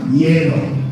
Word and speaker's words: hielo: Agua, we know agua, exactly, but my crew, no hielo, like the color. Hielo is how we say ice in Spanish, right? So you're gonna share the ice, van a compartir el hielo.